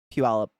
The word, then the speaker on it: Puyallup: And they're just words I've grown up with and heard other people try to pronounce, and it's giggly. Squim's a good one. Squim or Puyallup.